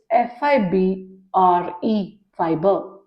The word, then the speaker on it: fibre: It's not FIBER, it's FIBRE, fiber.